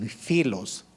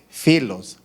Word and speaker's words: filos: Pero en el Nuevo Testamento solo aparece la palabra ágape y filos, o pilos, como se escribe P-H-I-L-O-S, filos.